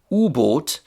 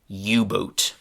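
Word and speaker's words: U-Boot: So um in German unable got shortened to ubot and in English this ubot got a different kind of English pronunciation which is yubot.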